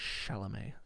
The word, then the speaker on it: Chalamet: Chalamet.